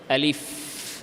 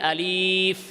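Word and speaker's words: ألف: মক্তবে আলিফ এমনে না আলিফ এর মধ্যে টান নাই আলিফ আবার এরকমও না আলিফ এরকমও না স্বাভাবিক আলিফ বুঝে আসছে আলিফ এই উচ্চারণও ভুল আলিফ এই উচ্চারণ ভুল সঠিক কোনটা আলিফ আলিফ আলিফ শেষে ফার মধ্যে ধরে রাখতে হবে আলিফ এভাবে তো এভাবে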